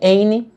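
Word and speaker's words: Áine: A principal divindade relacionada a Lita é a Onya, a rainha das fadas da Irlanda, também conhecida como Éine na pronúncia americanizada.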